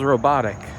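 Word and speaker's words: robota: It feels robotic. In Polish, the word job is is pronounced uh robot, which is just an accent put on the word robot.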